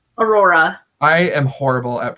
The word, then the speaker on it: Aurora: So we have Aura. I can't even say that right. How do you say Aurora? Aurora.